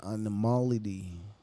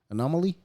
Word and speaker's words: anomaly: what if we're just the animality is that the right word anomaly anomaly i said it right got it right yes but i don't